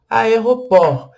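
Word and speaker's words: aéroport: Voltando lá nas nossas dicas iniciais, você pode perceber que o T não foi pronunciado aqui também, né? Igual o petit no A, igual o P também aqui no o aeroport, a gente não pronuncia o T, e o O tem o mesmo som do português, orange, aeroport.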